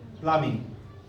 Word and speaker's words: plumbing: Plumbing. B will not be pronounced. Plumbing.